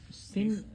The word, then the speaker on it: سن: Sin is the right way to pronounce it.